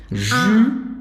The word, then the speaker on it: jus: O S é mudo, suco em francês. Jus, mais uma vez, faz a boca do O e fala I.